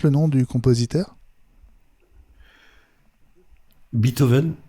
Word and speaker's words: Beethoven: Américains disent Beethoven. Ils disent pas beat. Ils prononcent pas le EE.